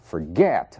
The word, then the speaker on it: forget: Forget, a sílaba tônica é o get.